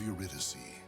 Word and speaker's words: Eurydice: destination the ancient ruins of the shrine of eurydice that's how you pronounce that it was there that sofitia after